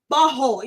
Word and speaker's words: butthole: You're not saying it right. It's butthole. You got to drop the T.